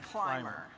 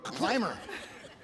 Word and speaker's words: ClimRR: ClimRR, I'm not sure even how to pronounce it. Well, we pronounce it Climber. There you go, Climber.